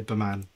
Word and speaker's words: BEMAN: Is it B Man or B Men? Like, Oh, so it actually stands for something, and I say Baman.